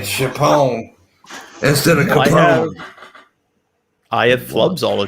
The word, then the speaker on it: Capone: saying Chapone instead of Capone. I have flubs all the time. I got, like, what is it? Apraxia. No, John, that is unforgivable. Calling Al Capone, Al Chapone.